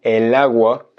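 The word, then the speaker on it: el agua: naturel donc en fait pour des soucis de prononciation de fluidité on dit el hawa mais agua est en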